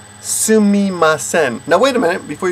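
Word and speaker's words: すみません: kind of thing, then you would just say, Sumimasen. Now wait a minute, before you get that in your head. People say Sumimasen. The technical correct pronunciation is Sumimasen. Sumimasen.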